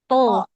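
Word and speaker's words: ط: To. Kok, kok, Bukan kok. oh, To. kok, Mm, kok, mm. Nah, huruf to ini huruf yang diucapkan dengan menaikkan pangkal lidah ya. Jadi tebal hurufnya.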